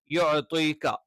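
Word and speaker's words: يُعْطِيكَ: യുഅതീക, യ നാവിന്റെ മദ്യം മേലെ അണ്ണാക്കിൽ ടച്ച് ചെയ്തുകൊണ്ടാണ്. ഐൻ തൊണ്ടയുടെ മധ്യഭാഗത്ത് നിന്നാണ്.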